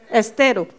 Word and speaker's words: Estero: viennent toutes de Santiago del estro je je prononce tout comme faut Estero et puis euh Victor avait vu quand il